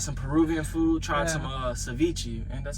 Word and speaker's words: ceviche: Tried some ceviche, and that's how you say it. Yeah, ceviche.